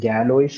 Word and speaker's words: Galois: Now, Galois field, okay, Galois എന്ന് എഴുതുമെങ്കിലും GALOIS എന്ന് എഴുതുമെങ്കിലും this has to be pronounced as Galois because it's the French mathematician's name, right?